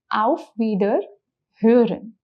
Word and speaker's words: auf Wiederhören: Okay, first thing to mark here is the pronunciation of O umlaut that we have learned, which is Ö. So the word becomes auf Wiederhören, which means I will hear you again in a way.